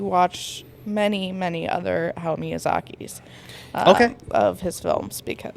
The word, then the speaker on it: Miyazaki: Miyazaki, Yep.